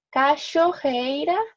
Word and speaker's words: cachoeira: y por último si la ch es pronunciado como una s h entonces cacho ojos rojos cachoeira cifre ok alguna duda